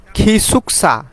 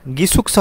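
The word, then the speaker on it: 기숙사: হয়ে থাকে তারপর আসেন খিসুকসা গিসুকসা হবে না খিসুকসা গিয়ক যদি শব্দের শুরুতে বসে তাহলে সেটা খ হবে খিসুকসা অর্থাৎ স্টাফ কোয়ার্টার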